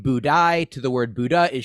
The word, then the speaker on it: Budai: this in China there was a monk named budai b-u-d-a-i it's spelled here with some accents over several of